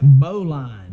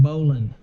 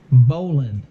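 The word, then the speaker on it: bowline: looks it looks like bow line b-o-w-l-i-n-e but it's pronounced bowling not like i'm like you're going bowling only with just without the the g on the end bowling not okay that's the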